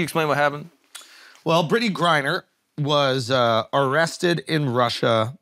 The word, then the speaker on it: Griner: about yes what do you think about Brittany Grinders yo shot Britney say her name right correct